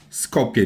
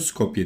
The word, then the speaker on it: Skopje: Scopeye diye okunuyor. Scopje diye yazılıyor. Scopeye diye okunuyor.